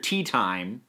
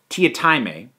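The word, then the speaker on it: Teatime: Tea Time, but it's pronounced, according to him, Mr. Tia Time.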